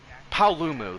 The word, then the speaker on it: Paolumu: I'm off to the coral Highlands to fight Apollo palu after the Never Never Land or however now however it's pronounced apalulu I have no clue yeah I forget paolumu that's what it is a pretty good armor